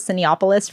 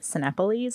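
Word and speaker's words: Cinépolis: Yes, but it's like a Mexican theater chain, and it is like I thought it was Cineopolis for the longest time, but it's pronounced Cinepolis apparently.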